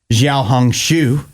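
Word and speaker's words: 小红书: social media app it's known as Xiao hong shu I believe in China is how you say that and people are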